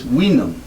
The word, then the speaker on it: vinum: And the reason why we get this word wine from vinum is originally this, which looks like our V, was pronounced like a W, and it was vinum.